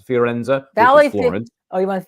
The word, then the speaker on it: Firenze: How do you pronounce it? Fiorenza? Valley Florence. Oh, you went to Firenze.